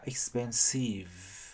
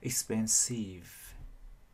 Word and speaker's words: expensive: Chữ E cuối cùng không đọc cho nên chúng ta chỉ có kết thúc bằng âm V. Mà chúng ta để ý người ta expensive. Ok, người ta phát âm tiếp âm V bởi vì âm V là âm kết thúc của từ này.